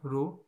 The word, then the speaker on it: rho: denoted by the symbol this and it is pronounced as rho rho it is pronounced as rho and what is resistivity it is the resistance